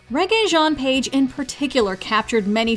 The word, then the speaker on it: Regé-Jean: and now everybody not only knows the name reggae jean page but can pronounce it properly too i suggest you do